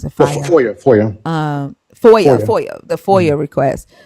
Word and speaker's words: FOIA: Is that what it's FIOA? Is that how you pronounce it? Fire. FOIA.